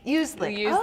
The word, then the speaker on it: Uzlik: Uzlik.